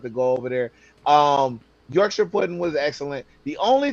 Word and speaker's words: Yorkshire: So did you fall in love with the Yorkshshire? Did I say right? Yorkshshire pudding. Yorkshire.